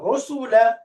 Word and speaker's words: رسل: কে হবে رسلا মাশাআল্লাহ রসুলা রসুলা তাড়াতাড়ি তো উচ্চারণ করো رسلا রা ضمة রু সিন ضمة সু এরপরে শেষে ফাতহা লাম ফাতহা লা রসুলা রসুলা রসুলা দুটোই